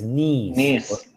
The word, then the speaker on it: niece: Es sobrina y la pronunciación correcta es niece.